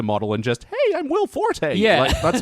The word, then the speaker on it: Will Forte: we've recorded that episode I now know it's pronounced Will Forte yeah and not will fought well I like Will